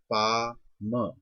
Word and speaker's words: palm: अब जैसे for example, जैसे इंग्लिश में आपको नीचे दिखा है पा म। अब पाम, पाम वर्ड हम इसको पाम प्रोनाउंस कर रहे हैं, स्पेलिंग होते हैं PALM। अब एल जो है इसमें साइलेंट।